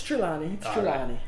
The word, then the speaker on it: Trelawny: that right my wife always complains i don't pronounce trilani correct yes it's um it's trilani all right so that is the correct way